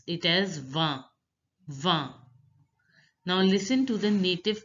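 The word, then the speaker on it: vingt: 19, 20 is pronounced as va, va. In is pronounced as a. It's the nasal sound. So the 20 will be pronounced as va, va.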